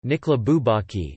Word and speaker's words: Nicolas Bourbaki: Nicolas Bourbaki, French pronunciation, Nicolas Bourbaki, is the collective pseudonym of a group of mainly French mathematicians.